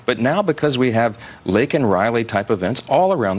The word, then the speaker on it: Laken: with President Biden, and he mentions Laken Riley's name, though he mispronounces it and says Lincoln.